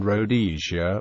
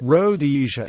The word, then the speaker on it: Rhodesia: should have been pronounced with the emphasis on the second rather than the first syllable Robert Blake comments but